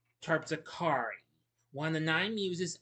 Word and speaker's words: Terpsichore: Okay, I did mispronounce that. It's pronounced Terpsichore, one of the nine muses of Olympus.